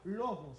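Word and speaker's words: λόγος: So, si estudiamos ese versículo, el verbo eterno en griego se pronuncia lobos.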